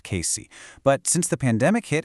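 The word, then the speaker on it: Cayce: That's pronounced Casey.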